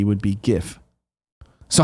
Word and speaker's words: GIF: correctly oh I see gif okay good yeah I don't I'm just checking I don't want this jiff garbage I don't care what